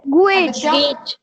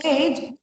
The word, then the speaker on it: gauge: Gauge. Gauge. We don't call it gauge. It gauge. Okay. Gauge नहीं बोलते हैं, gauge नहीं बोलते हैं. It is called gauge. AU will be pronounced as A only.